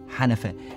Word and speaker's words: حنفه: وزود حاجة جميلة جدا، إن كلمة حنفاء، كلمة دي موجودة في الحضارة المصرية القديمة، حنفه، الاجانب ما بيعرفوش ينطقوها فبيقولوا هنفه، ما بيعرفوش ينطقوا حرف الحاء، فمن هنا كلمه حنفه دي كلمه مصريه قديمه مكتوبه كده.